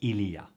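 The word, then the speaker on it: il y a: whole clip but rather to understand the contracted pronunciation of Ilia even though the subtitles write the correct written form of Ilah if you listen carefully that is not at all what is pronounced let's hear it again and then again at half speed yeah yeah repeat that yeah yeah so it's not simply that it's spoken fast no the E actually isn't pronounced at all here and this is extremely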